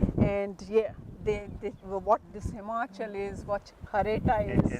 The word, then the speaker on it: Himachal: And spirit of, tell me the right pronunciation. Himachal.